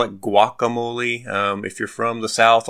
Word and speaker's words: Guacamole: that it's pronounced guacamole, like a W on the front.